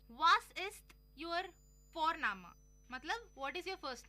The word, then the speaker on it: Vorname: और जर्मन में हम जिस तरह से लिखते हैं, लिखना और प्रोनाउंसिएशन अलग होता है, तो इसलिए तुम सी साई में कंफ्यूज हो जाते हो. और हम यहाँ पे फोरनामा प्रोनाउंस करते हैं बट लिखते हैं उसको VORNAME. ओके, तो वो हम इंग्लिश के अनुसार प्रोनाउंस करेंगे तो बनेगा वॉरनेम, बट नो, इट्स फोरनामा.